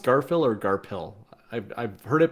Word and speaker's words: Garfield: I've been digging Garfield's games. Yeah, Is it pronounced Garfield or Garpil? I've heard it pronounced both ways. I have no Yeah, I idea. have to. It's Garpa Hill.